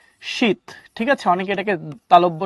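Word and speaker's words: sheath: উচ্চারণটা কি? শীত।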